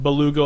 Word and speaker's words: Beluga: Beluga, like the well.